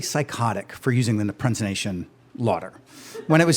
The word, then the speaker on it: Laughter: I thought the Dr laughter sounded a little bit too much like a pimp and yeah so I went with a pronunciation Lauder and uh sounded much better than